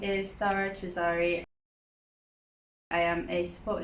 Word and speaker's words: Sara: Hello, my name is Sarah Chisari. I am a support and development officer at Connected Voice. So, my mom named me Sara after her great-g grandandmother.